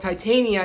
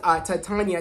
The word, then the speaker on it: Titania: Jamila Jamil's, character name is called Titania, not Titania, it's Titania, which I was correct when I was pronouncing it last video.